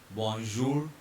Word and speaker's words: bonjour: Bonjour. R will be silent because it is the consonant at the end of the word. Bonjour and vous.